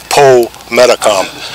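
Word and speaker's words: Pometacom: That's why sometimes you'll hear his name pronounced Po Metacom. And the Po prefix means of Pokanoket.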